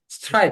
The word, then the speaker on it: strike: 못하고 관심도 없지만 , 영어 에서 중간 의 'i' 는 이중 모음 이 되기 때문 에 "strike" 는 한 음절로 발음 됩니다 . 두 음절로 발음 되는 이유 는 한국어 발음 기준 으로 음절 을 인위 적 으로 늘려서 발음 하기 때문 입니다 .